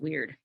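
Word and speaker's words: wyrd: is coming to mind the word is spelled w-y-r-d pronounced weird I'll get to why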